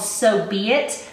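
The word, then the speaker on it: So B. It: by Sarah weeks and it's called so be it but it's spelled s.o.b period aighty like someone's name with a middle initial this one is a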